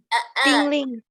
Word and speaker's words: tingling: Tingling. Tingling. G-nya masih ada bunyinya. Tingling. Tingling. Next is, nah, if you go to exercise but you do not do stretching first.